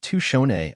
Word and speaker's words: Tutchone: I am of Native ancestry, Northern Tutchone, pronounced Tushone on my mother's side, and my father, Paul Nieman Sr., R.I.P., was of Danish and German ancestry.